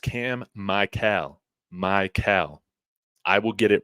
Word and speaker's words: Mikell: year thank you thank you MB it is pronounced cam Mel Mel I will get it right I promise for